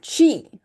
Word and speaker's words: qi: It's pronounced qi is the vital life force that flows through all living things, okay?